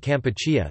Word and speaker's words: Kampuchea: 4 days later, King Sihanouk declared Kampuchea, the original Khmer pronunciation of Cambodia, independent.